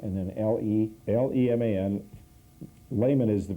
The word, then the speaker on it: Leman: Leman, L-E-M-A-N. It's a French, Swiss German, like Lake.